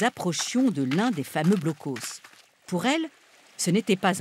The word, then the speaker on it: Blockhaus: Nous, en France, nous les appelons blocos, prononcés à la française.